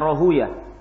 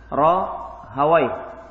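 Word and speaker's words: Rahawayh: Kebanyakan membacanya Rohuya. Kalau ahli hadis bacanya dengan Rohawaih.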